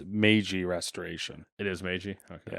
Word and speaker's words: Meiji: Probably butchered all those names too. The only one I know for sure is it's Meiji Restoration.